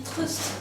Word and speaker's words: Trieste: en Lorine fr slovine Trieste se dit trust parce qu'on ne prononce que les consonnes on sait pas non